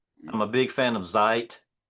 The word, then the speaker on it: Zeit: the old stuff, I'm a big fan of Zeit. Yes. Or is it is that the correct pronunciation? Is it Zeite? It's more sharp. Um, it's would be um Zite, but Yeah.